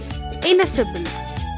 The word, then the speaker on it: ineffable: Parliament the word is in a fizzle inwardly pronounced phenomena ineffable II Ness able ineffable what is the meaning